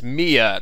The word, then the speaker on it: Mia: editing but i pronounced it's mia not my the girl from before i kept following her maya for some reason but